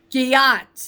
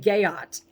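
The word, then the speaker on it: gyat: Giat. That's how you say it. I was saying gayot. It's giat, right?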